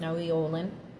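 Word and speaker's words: Nahui Ollin: Olin here, or Naui, I think it's pronounced Naui Olin, is all about everything you do has an impact on the universe and the community and the people around yourself.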